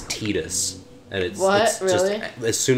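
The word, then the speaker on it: Tidus: say his name so I always thought it was Titus cuz that sounds like a name although like a final fantasy name and apparently it's tedious and it wasn't as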